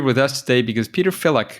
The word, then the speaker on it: Filak: That sounds fantastic because Peter is here with us today because Peter Filak. Filak, is that a good way to pronounce it? That's correct.